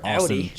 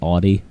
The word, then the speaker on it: Audi: to my friend David it's pronounced Audi not Audie all right we'll make